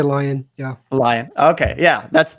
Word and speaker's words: Lyon: lion is it like leon yeah here here in america would you say lion lion okay when i